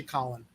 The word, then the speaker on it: Colin: Now, Colin Boyle, I'm going to say Colin, because colon denotes something. It's Colin. It's Colin.